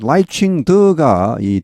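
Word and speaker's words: 賴清德: 1위를 달리고 있습니다이 발음은 라이칭더이 대만의 원음에 가깝습니다 이걸 보고 이제 웬만한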